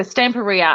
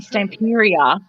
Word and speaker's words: Stamperia: i can remember yeah so stamparia and i was saying stamperia for ages until i figured out that i was saying it wrong so it's stamper i